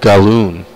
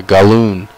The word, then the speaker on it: Gallon: He says it's pronounced balloon with a G, so I will say Michael. That's Galloon, and I hope I said that right.